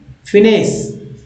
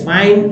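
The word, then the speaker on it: finesse: पहला शब्द है इंग्लिश का फिनेस। फिनेस, फिनेस, फाइन फाइन नहीं पढ़ेंगे, ठीक है, फिनेस पढ़ेंगे।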